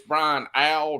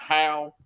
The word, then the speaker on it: Brian Howell: We don't pronounce the H in Brian Al's name. It's Brian Al, not Hal.